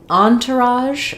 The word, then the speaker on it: entourage: So, in entourage, um, we in American, in English, we stress the on syllable. It comes from French and they might stress elsewhere, but we stress on on. Um, en it sounds the same as how we say the word on, which I'll rewrite for you.